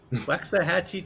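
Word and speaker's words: Waxahachie: planner in wa waxahachi is that how he pronounced you got it waxahachi Texas and also in Grand Prairie Texas he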